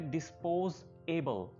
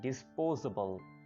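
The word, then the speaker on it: disposable: इसी तरह पहले आप प्रोनाउंस करते होंगे डिस्पोज एबल, लेकिन डिस्पोजेबल नहीं प्रोनाउंस करना। आपने जो एस है इसको मिला लेना है एबल के साथ, और अब इसको ऐसे प्रोनाउंस करना है डिस्पोजेबल, डिस्पोजेबल, डिस्पोजेबल।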